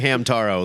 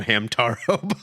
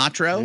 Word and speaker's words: Hamtaro: then we'd hand them Hamtaro books, and they'd be like, "Same thing." This isn't Naruto. And then my favorite thing was to mispronounce it Hema. Hamatro Yeah. and watch them freak out.